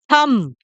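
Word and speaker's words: thumb: जो हमारा हम हैं इसमें बी साइलेंट है इसमें बी का साउंड तो आएगा ही नहीं की रियल प्रनंसीएशन है थंब ठीक है फिर आते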